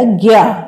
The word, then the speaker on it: ज्ञ: तो ये बन गया ज्ञ इसका प्रोनंसिएशन उच्चारण है ज्ञा इससे बनने वाले शब्द